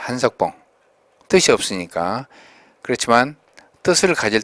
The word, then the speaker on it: 한석봉: 영화도 있고 또 복장도 있고 음식도 있고 또 한복, 한국 사람의 옷, 한석봉 명필 이름이죠. 이조시대. 그래서 한호인데 호가 석봉이죠. 성으로 쓸 때는 길게 발음하지 않습니다. 한석봉.